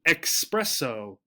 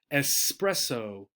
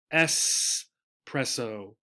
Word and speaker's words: espresso: how we spell it you will often hear people say espresso as if there were an X here the pronunciation is espresso espresso right and it's sort